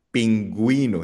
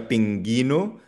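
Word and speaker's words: pingüino: Kapag merong dalawang tuldok sa letter U, ang ibig sabihin ay binibigkas yung letter U. Paano yun? So for example ang salitang penguin sa Spanish sa pingo. Pinguino.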